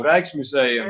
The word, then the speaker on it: Rijksmuseum: So, oh, we're on to Dutch pronunciations now. Rijksmuseum, that's how you pronounce that.